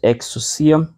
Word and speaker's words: ἐξουσία: palavra exo excia né pronúncia que eu uso né uma pronúncia exusia ah por causa su só um som de su aqui porque aqui tem um de tongo né então é lido com como se fosse apenas o Y né apenas o som de